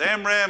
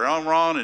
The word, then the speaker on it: Amram: That's Amram and Jochebed, or Amron and Jochebed, however you want to pronounce it.